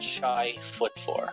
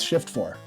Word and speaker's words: Shift F4: Or is that Shy Foot 4? How's that pronounced anyway? It's Shift 4.